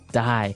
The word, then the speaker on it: dye: you're dying it okay dye so it's pronounced exactly the same way as you know to die to not live anymore